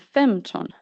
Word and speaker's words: femton: Klinga carries accent 1, and femton carries accent 1. In klinga, the second syllable carries the highest pitch in the word, but in femton, the first one does.